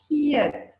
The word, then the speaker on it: geëet: So if I didn't have the deelteken on this word, geëet, I would read it as geëet. Okay, so the deelteken tells us it must be geëet.